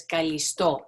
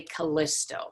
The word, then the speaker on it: Callisto: She was a very accomplished young woman, and her name is Callisto. In English, sometimes people say Callisto. So I'll try and say both the English and the Greek pronunciation just so that you know what it's supposed to sound like.